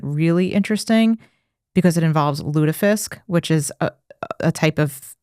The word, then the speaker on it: lutefisk: That's how they say it, lutefisk.